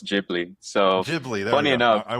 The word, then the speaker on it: Ghibli: this uh and I'm gonna like mispronounce it totally. It's the galibi. The galib. Oh, it's Jibli.